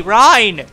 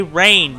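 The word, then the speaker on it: Reyn: there we go i can't move help me ryan was some people say rain he's literally called ryan in the game why do you call him rain i i don't understand you know some people call ryan rayne and i don't get it at all like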